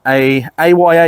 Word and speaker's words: AYA: Next up, I've got another over-under, but this one is a AYA Yeoman, or Aya, however you want to pronounce it.